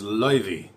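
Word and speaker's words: Laufey: And so like there's a specific artist, her name is Liy, but it's spelled la kind of like how they they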